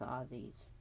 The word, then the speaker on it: Hades: all these permission the position Hades which is pronounced all these I'm sorry I'm just going over this again